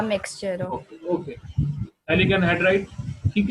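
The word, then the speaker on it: phthalic: फेटालिक anhydride. Very good. थैलिक, P silent होता है, इसको कहते हैं थैलिक एनहाइड्राइड।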